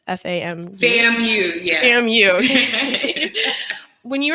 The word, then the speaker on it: FAMU: I think that's how you pronounce it, right? FAMU?